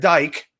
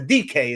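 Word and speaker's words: Dike: Shamir Dyke or DK. I'm sorry. It's a DK is how you say his name.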